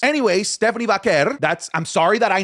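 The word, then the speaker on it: Stephanie Vaquer: No, it's it's I literally speak Spanish. I'm from her part of the world. That's how it's pronounced. Anyway, Stephanie Vaker.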